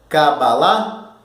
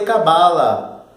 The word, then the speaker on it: Kabbalah: Reparar na pronúncia? Kabbalah? E eu não falei Cabala.